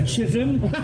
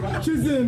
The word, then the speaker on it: Tsismis: Oh, there's like a chism. Chism. No, seriously, how do they pronounce it? Yeah, it's like chism, sis.